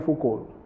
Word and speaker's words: Foucault: Michael Foucault. T is silent. Actually, we have to call him Michael Foucault, but we call him Michael Foucault.